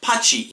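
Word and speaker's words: ぱち: 8 is pronounced hachi, but if it is repeated, it is pronounced pachi.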